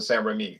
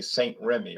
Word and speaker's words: St-Rémy: XO it looks it they pronounce it San Remi in English we're English we say Saint Remy right we would say Saint Remy because we English speakers